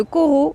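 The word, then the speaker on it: Corot: J'ai démarré à Chaville dans le 92 et là je suis actuellement à côté donc de la forêt aux étants de Corau. Donc Corau ça s'écrit C O R O T qui se situe à la ville d'Avr dans le 92 aussi.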